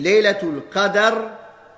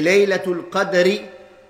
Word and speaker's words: Laylat al-Qadr: Il faut savoir qu'il y a deux prononciations pour Laylatul Qadr. On dit Laylatul Qadr avec un fath sur le dal, et Laylatul Qadri avec un sukoun sur le dal.